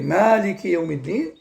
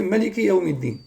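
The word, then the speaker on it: مَٰلِكِ يَوْمِ ٱلدِّينِ: Cheikh Al-Albani rahimahullah nous dit, et dans Surat Al-Fatiha, comme vous savez, on peut prononcer Maliki Yawmiddin, tout comme on peut prononcer Maliki Yawmiddin.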